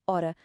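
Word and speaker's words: hora: A letra G em português, quando aparece no início de uma palavra, é muito tímida. Tão tímida que, na verdade, ela é completamente muda, silenciosa. Ela existe na escrita, está lá para a vermos, mas na fala desaparece por completo. Por isso, a palavra homem soa como homem. A palavra ora soa como ora.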